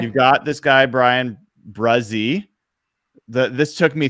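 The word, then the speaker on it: Bresee: You've got this guy, Brian Bruzzi. This took me 3 months to learn the pronunciation of his name. It is pronounced Bruzzi.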